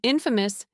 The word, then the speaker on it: infamous: And listen to the pronunciation difference. Famous is famous, but Infamous is infamous. I used to say infamous and people would look at me funny. The stress is so important. Both words are stressed on the first syllable.